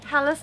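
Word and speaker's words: Calais: we we do not we do not pronounce it how it is pronounced over in France it is Callis not K it's like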